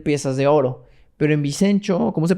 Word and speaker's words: Vincenzo: Pero en Vicenzo, ¿cómo se pronuncia? Vicenzo. Sí, Vicenzo, ¿ok?